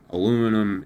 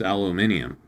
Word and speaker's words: aluminium: made of aluminum and aluminum isn't the name of the thing. It's aluminium. Like don't get me wrong, I in in most cases where British people pronounce stuff different, I think they're wrong and stupid, but this is one of those cases where I actually agree with them.